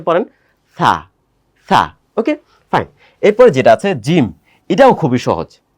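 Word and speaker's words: جيم: ওকে এরপরে যেটা আছে জিম এটাও খুবই সহজ বাংলায় যে জ আছে বর্গীয় জ সেই জ এর মত এটার সাথেও কোন কমপ্লেক্স কোন ব্যাপার স্যাপার নাই আপনি আমার সাথে একটু উচ্চারণ করেন জিম এটা জিম লিখতে হয় কিভাবে জানেন?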